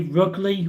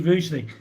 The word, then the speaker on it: Rugeley: Jeff wanted to pronounce Rugeley with a hard G. Yeah, some people sometimes say Rugley or Ruggly. But it's actually Rugeley.